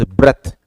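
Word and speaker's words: breath: This is ब्रेथ, हाउ डू we pronounce it? इट is pronounced as ब्रेथ, this is noun. और इसको अगर आप सिर्फ इतना ही चेंज करेंगे तो इट बिकम्स ब्रीद। क्या बन जाता है ये?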